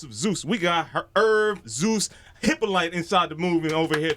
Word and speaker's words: Hyppolite: In French and being Haitian, it's Hyppolite. Hyppolite.